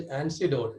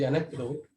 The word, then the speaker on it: anecdote: I pronounced it as antidote. It is anecdote. Anecdote. So please correct my. So tell an anecdote, not antidote.